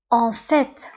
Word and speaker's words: en fait: فبالواقع الفرنسية en fait، فانتبهوا بالنسبة ل en fait كنطقوا تي en fait.